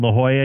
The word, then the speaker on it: La Jolla: my daughter down there I'm very familiar with La Jolla and yes he said it right and there's